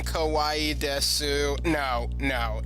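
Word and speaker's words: です: Also note that the U is silent on this. I think some dialects might pronounce the U and say des, but you'll often hear just.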